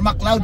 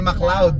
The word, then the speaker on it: McLeod: ngayon sa mcleod to mcleod Avenue or mcloud pala sorry mcloud as pronounce Yeah mcloud o as pronounce mcloud so ito ang titirahan